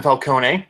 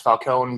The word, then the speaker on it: Falcone: It's directed by her husband, Ben Falcone. I'm sure his last name is actually pronounced Falcone, but saying it that way makes him sound like a Batman villain, so I'm sticking with it.